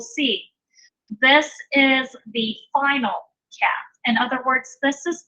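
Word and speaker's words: כף: So with the Dagesh Lene, it's pronounced that hard K.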